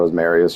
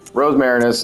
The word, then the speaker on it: Rosmarinus: The Rosmarinus is, I call it Rosmarius just because of the way it's spelled, but Rosmarinus is a the sprayer for arcane stuff, basically.